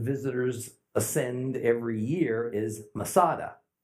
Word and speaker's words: Masada: ascend every year is Masada Masada is merely a Roman way to pronounce the Hebrew word Metz ah da fortress